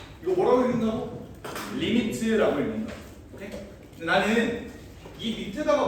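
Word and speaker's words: lim: 이거 뭐라고 읽는다고? 리미트라고 읽는다고.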